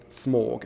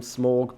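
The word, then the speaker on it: Smough: a weird minority by calling him smorg but hey as far as I'm aware there is no actual guidance on how that name is supposed to be pronounced so you my interpretation is just as valid as anyone else's okay so oh we have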